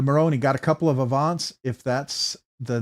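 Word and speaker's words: AVNT: Uh the Moroni got a couple of Avants if that's the name. It's actually spelled AV NT. So, it's there's no A in there. It's just spelled av n t. That's how you spell avant. It's avant.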